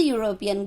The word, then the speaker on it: European: That's why it is making here sound ya. Ya, it is consonant.